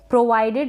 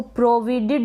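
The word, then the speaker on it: provided: Next है प्रोवाइडेड, इसको प्रोविडेड ना पढ़ें, प्रोविडेड नहीं, प्रोवाइडेड, प्रोवाइडेड। ये जो आई आ रहा है इसको यहाँ पर हम आई ही पढ़ रहे हैं।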